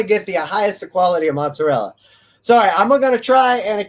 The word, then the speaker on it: mozzarella: uh that use fresh mozzarella sorry mozzarella that's all that's the correct italian pronunciation yes uh and there's